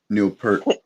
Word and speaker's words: Peart: Yeah, Ghost Rider by Neil Peart.